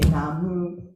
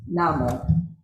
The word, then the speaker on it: Namu: Of course, you know some people say Namu, and some people pronounce Namo.